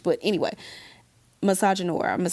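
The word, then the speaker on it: misogynoir: And we experience a very unique and very specific branch of misogyny called I believe it's pronounced misogynor. Some people say no cuz it's like French, but anyway, misogynore.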